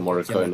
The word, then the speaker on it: Morricone: Uh, yo, you, Ennio yeah, no, Morricone.